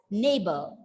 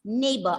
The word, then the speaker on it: neighbor: at the word neighbor r is at the end of the word so you have to pronounce the word as neighbor it's neighbor r is silent and